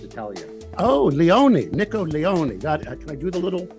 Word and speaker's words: Leone: is correct pronunciation of your name sir that's leonie it's mispronounced Italia oh Leone nickel Leone can I do the little if you mind